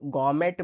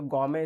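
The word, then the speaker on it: gourmet: तो गॉर्मेट में यहाँ टी साइलेंट होता है, तो गॉमे इसको पढ़ेंगे।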